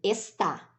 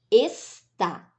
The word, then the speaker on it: está: E essa, como eu pronuncio? Está. Está. Viram a diferença? A sílaba tônica, nessa segunda opção, recai na última sílaba.